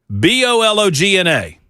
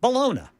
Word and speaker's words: bologna: You are the official pronouncer of the Matt Murphy show. Okay. B O L O GN A. B O L O G N A. Mhm. Bologona.